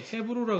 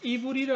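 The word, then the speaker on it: עברי: 이게 헤브루라 그러는 게 아니고 이브리라 그런다면 예.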